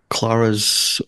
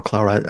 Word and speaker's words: Clara: how did you play Clara's Clara or claraa I like pronouncing it either way how did you just